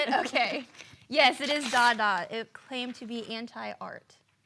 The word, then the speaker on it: Dada: Yes, it is Dada.